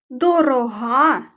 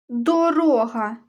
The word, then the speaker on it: дорога: словах дешева рибка та дорога з неї юшка тоді дорога успішна коли розмова втішна дорога слова однакові за написанням але наголошені різні склади в першому вислові дорога про цінність як